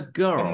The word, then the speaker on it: girl: Another girl. Another girl simply. Girl. Another girl. This is a very simple word, but a lot of people pronounce it wrong.